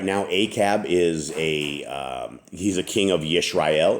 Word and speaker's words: Ahab: So right now we are in the years of Ahab, or Acab, as this proper pronunciation is.